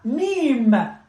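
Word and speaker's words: ميم: And then we have mim, mim, the letter mim, which is the letter M in English.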